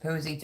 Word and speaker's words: Posse: to let you know my last name is pronounced posey i say it wrong